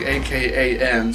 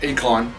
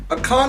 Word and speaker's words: Akan: spelled like, I think, A-K-A-N, so it's like Akan, I think it's Akan. I was gonna say like Akon, like the Akon. No, Akan, I think is how you pronounce his name.